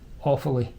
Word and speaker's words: Offaly: Tullamore Distillery is in Tullamore, in the county Offaly. That's how it's pronounced, folks.